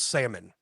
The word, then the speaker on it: salmon: How do you pronounce salmon? Salmon, just like you did. How do you do it, John? John. I want to hear it, John. John, because you're about to add that fucking silent L, aren't you?